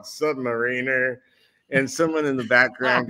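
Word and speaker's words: Sub-Mariner: go, Stan, for years, my uncle has been insisting that it's submariner. And I go, how is it pronounced? And he goes, well, I hate to tell you this, Billy, but your uncle's been wrong for years. And he goes, it's submariner.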